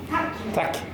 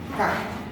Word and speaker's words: tack: তো ওরা থ্যাংক ইউটাকে যেভাবে লেখে সেটা হচ্ছে TACK উচ্চারণটা কি হলো? Tak. Tak. Can you say it? Tak. Tak.